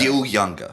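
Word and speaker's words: Gil Junger: Gil Younger is how his name's pronounced.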